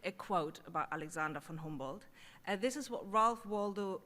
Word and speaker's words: Humboldt: It probably doesn't help that I say Humboldt instead of Humboldt, which is the American way to pronounce it. But I'm German, he was German, and since he's not that well known here, I think we might as well learn to pronounce his name properly, Humboldt.